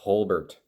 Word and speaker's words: Holbert: though it's colbert and my last name starts with an h instead of a c so it's holbert it's kind of a